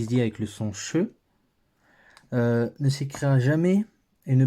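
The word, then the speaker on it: שׁ: pour commencer à savoir le Chine fait le son che qu'on écrit ch ou SH comme dans shabbat voilà comme dans shabbat par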